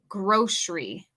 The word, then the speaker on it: grocery: Con mi pronunciación americana, yo pronuncio esta palabra grocery como si fuera SH. Grocery.